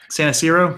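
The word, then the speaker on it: Santarsiero: District, you know, with Shaughnessy Naughton and Steve Santasiero, Santasiero, is that how you say his name? Yeah, Santasiero.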